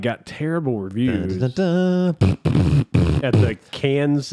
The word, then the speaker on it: Cannes: And I see that the Indiana Jones part 5 got terrible reviews at the Cans. It's not Cannes, it's Can.